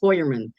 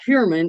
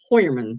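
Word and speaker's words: Heuermann: his last name is Hoyerman. Uh according u I just recently found that out that it's not Herman, it's Hoyman. So it's a German name.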